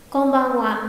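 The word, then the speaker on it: こんばんは: À đúng rồi, đúng là viết là chữ ha, nhưng tuy nhiên trường này sẽ đọc là qua nhá. Công văn ạ, nhớ kỹ.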